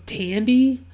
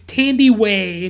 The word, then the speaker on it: Thandiwe: It's Thandiwe, and it's I had always seen it misspelled without the W, and I just thought it was Tandy, but it's Tandiwe Newton.